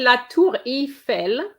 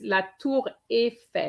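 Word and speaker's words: la tour Eiffel: surname okay numero de it's not quite la tour e i know that in e i in english is the sound e but it's not in french it's la tour efe la toure fell okay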